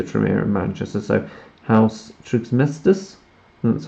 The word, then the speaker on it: Trismegistus: So House Trismegistus, that's how it's pronounced.